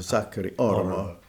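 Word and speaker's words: Sakari Oramo: And, you know, if you know Finnish, the emphasis is always on the first syllable, so Sakari Aramo.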